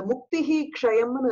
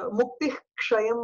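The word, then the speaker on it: मुक्तिः क्षयम्: Cock முன்னாடி இருக்கிறது எல்லாத்தையும் நம்ம வந்து முக்தி க்ஷயம் அப்படிங்கிற மாதிரி சொல்லுவோம். அப்படி சொல்லக்கூடாது. க்ஷாங்கிற எழுத்துக்கு முன்னாடி இருக்கக்கூடிய விசர்க்கத்தை விசர்க்கமாவே நம்ம வந்து ப்ரொனவுன்ஸ் பண்ணணும். முக்திஹி க்ஷயம் அப்படின்னு தான் சொல்லணும் அத.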